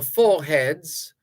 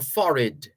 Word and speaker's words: forehead: placing ashes on the foreheads or if you prefer there are two pronunciation of fo true pronunciations of a d f-o-r-e-h-e-a-d-s you can say forehead or foreign forehead or foreign so